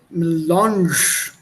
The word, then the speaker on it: Melange: Cafe melange. Oh. See this tilde? This is that nasal sound.